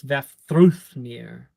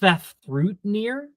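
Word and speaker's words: Vafþrúðnir: right, but it is Vafthrûdnir. But the first TH in Thruth has to be stronger than the last TH. It's almost Vafthrûdnir, but the T is still like a th sound.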